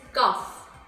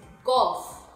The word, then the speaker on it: cough: is cough cough now this shouldn't be pronounced as this cuff it has to be pronounced as this cough in other words is